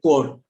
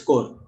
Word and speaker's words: corps: And P is also silent in certain other words, random words like coup or core, NCC, National Cadet Corps. It's not corps, it's core.